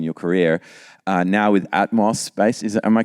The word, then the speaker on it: Atmos Space: Uh now with Atmos Space, is am I pronouncing that correctly?